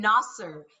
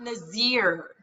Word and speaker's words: Nasser: And Nasser, not Nazir.